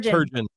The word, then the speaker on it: Turgeon: I didn't know if it was a hard or a soft G. Close to a soft G. It's like surgeon. says Turjan. Y very good.